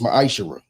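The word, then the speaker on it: מעשר: Means 10th in Hebrew and is pronounced ma'ashara.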